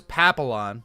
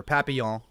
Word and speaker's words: Papillon: Poppy, L-L-O-N. Is that the breed of dog? So his full name is Papillon, or Papillon.